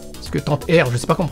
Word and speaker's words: Tant-R: Puyo Puyo, Dark Edge, Tant Air, Tantohar en japonais, parce que Tantohar, je sais pas comment on prononce ça, mais c'est Tantohar en japonais, Virtua Fighter, Stack Columns, Ichidan R, Puyo Puyo 2, Dottori-kun.